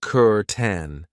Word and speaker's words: curtain: Over here, we have a curtain. Be careful of the pronunciation. I know it looks like cur, but we pronounce it curen.